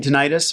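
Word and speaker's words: tinnitus: claim hearing loss and denitis or tenus heard pronounced both ways although I'm pretty sure it's tenus you might get granted for tenus you might get denied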